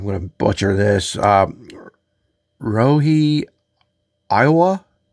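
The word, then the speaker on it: Ryohei Oiwa: to butcher this um Rie Iowa it's not the state of Iowa but it's R yo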